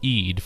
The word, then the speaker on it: eed: The latter word split of eed from the phonetic mare-eed is a Dutch word that means oath and is phonetically pronounced to sound like eat.